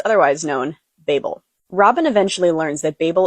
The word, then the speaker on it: Babel: The author has said that you can pronounce this either way, Babel or Babel, but the audio book says Babel, so that's what I'm going with.